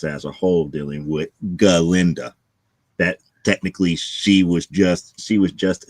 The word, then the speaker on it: Galinda: So instead of calling herself Glinda, she calls herself Galinda.